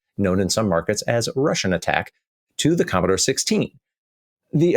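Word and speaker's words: Rush'n Attack: The game was called Rush N Attack, as in rush and attack, and of course it's pronounced as Russian Attack.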